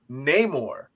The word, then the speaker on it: Namor: there when he said that still proceeds to pronounce his name Namor and I feel like it's kind of meta